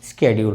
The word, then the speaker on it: schedule: ये मैं फिर कह रहा हूँ कि अभी तक जो हमारा प्रोनाउंसिएशन चलता था वो शेड्यूल चलता था, लेकिन आगे ये वर्ड हमारा स्केड्यूल हो गया है।